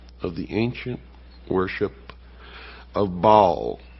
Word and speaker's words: Baal: For this is the only ancient portion, the beginning of the ancient worship of Baal, or Baal as some pronounce it.